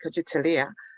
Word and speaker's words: Kujichagulia: I think for me, and I pronounce it KUJICHAGULIA, I believe it's about drive and progression.